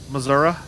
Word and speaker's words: Missouri: Quinton spelled it correctly it's Missour Missoura the reason why I know that that's the correct way to say Missouri uh is because it